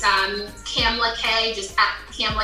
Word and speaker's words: Kamla-Kay: if you go to my Instagram it's um camla K just cam K and I know my name is like how do you spell it so k a m l a k a y so camela K is on Instagram and then just the link